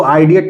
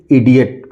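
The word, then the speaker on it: idiot: icon क्या पढ़ेंगे icon I डी आई ओटी लिखा हुआ है इडियट इसको आईडिएट नहीं पढ़ सकते इसको सीधे-सीधे हम पढ़ेंगे इडियट इसी तरह आईएफ लिखा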